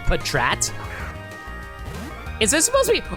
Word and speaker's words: Patrat: to freaking catch this Patrat or Petrat. How do you guys pronounce this guy's name? I always pronounce him as Patrat. Like Packrat, but I've heard people pronounce it as Patrat.